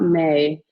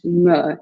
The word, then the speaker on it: me: It's not may, because that's in Spanish. In Spanish, the reflexive pronoun is pronounced may. But in French, me, it rhymes with le.